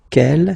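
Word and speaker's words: quel: G here feminine singular will become ke with the s fe feminine plural and the good news is that you will pronounce them the same way.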